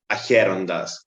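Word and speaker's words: Αχέροντας: In Greek, we say it Acherondas.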